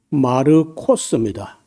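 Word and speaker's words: Μάρκος: 근데 그 마가 말고 원래이 마가라는 말은 우리가 발음할 때 마가라고 했는데 좀 그이 이름이 원래는요 헬라어로 말할 때는 여기 보시면요 마르코스입니다.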